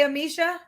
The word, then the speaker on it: Amisha: Amisha, like Alicia, but Amicia. Am I saying it right when I say Amisha?